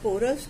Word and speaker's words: पोरस: कलिंग युद्ध, Ashoka and Kalinga war, Sikandar और पोरस की कहानी, the story of Sikandar and पोरस। Sikandar और पुरु या पोरस दोनों ही उसको प्रोनाउंस किया जाता है।